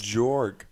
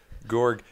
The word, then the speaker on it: Georg: hard G sound gorg George tried something else George gorg gorg closer key to York Georg Georg Georg